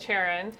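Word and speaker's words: Charon: So Leviathan just made a deal with Sharon.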